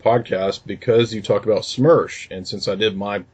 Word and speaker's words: SMERSH: In regard to SMERSH, or SMERSH as we pronounce it, it's basically a counterintelligence